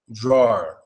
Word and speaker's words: drawer: just draw drawer drawer okay and remember it's a diff tone two sounds it's not really just one sound drawer it's diff tone so draw drawer drawer okay drawer there two sounds in there drawer so it's like hi then it goes low a little drawer so yeah drawer is a hard word that's a hard ass